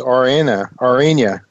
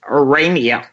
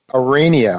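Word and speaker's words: Aurania: ask you about is Arena Aria do I pronounce that right it's arania arania of course the Au through me arania arania resources uh traded in Toronto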